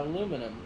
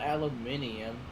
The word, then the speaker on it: aluminum: all aluminium and aluminum yeah aluminum not aluminium we're adding a lot of extra syllables there i'll tell you it's spelled that's that's how it is spelled that's how you spell it we spelled aluminum look look what was first aluminum oh didn't you here's the thing right you're adding an extra syllable and extra letters that you don't need to add simplification that's not a